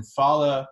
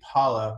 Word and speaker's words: phala: to a year and then fala or really paula means fruits so varsha pal is